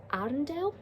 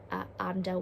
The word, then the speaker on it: Arendelle: Team number 3 is Arendelle. Apologies, I've pronounced that wrong. Arendelle, which is the kingdom from Frozen.